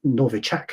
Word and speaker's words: Novichok: It's called Novichok, I think, if you pronounce it properly in the Russian, Novichok, which just means newcomer, incidentally.